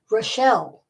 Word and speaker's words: Rachel: an hour later was Rachel pronounced rashelle she was a redhead